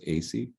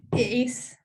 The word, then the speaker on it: Ace: Is it pronounced Ayce? It's Ace. Ace?